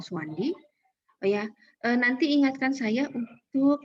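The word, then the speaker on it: Soewandi: Nah, jadi mulai di ejaan Republik atau ejaan Suwandi ini, meskipun namanya Sowewandi, tapi mengubah oe menjadi u gitu ya. U saja, nggak usah oe-oe gitu ya.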